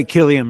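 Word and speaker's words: Cillian: how do you say his name is it Killian yeah Killian Murphy yes yeah yeah so I think I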